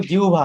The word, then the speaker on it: জিহ্বা: আচ্ছা, শব্দটা হবে জিহ্বা, হ্যাঁ, সেটা হলো সঠিক উচ্চারণ। আমরা বলি জিব্বা, বলি জিব্রা, বলি অনেক কিছুই বলি। সব উচ্চারণ হলো কি জিহ্বা।